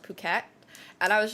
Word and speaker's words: Phuket: So Grace, I was pronouncing it Phuket, like literally Phuket for the longest time, and I kept getting corrected, and it's pronounced Phuket.